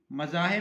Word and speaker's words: مذاہب: سے وہ ہے مذاہب۔ مذاہب میں پہلے دونوں حرف مفتوح، چوتھا مکسور، جیسے فوائد۔ مذاہب کے وزن پہ